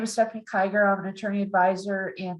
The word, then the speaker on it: Kiger: And Stephanie, I hope I'm going to make the correct pronunciation. Is it Kiger?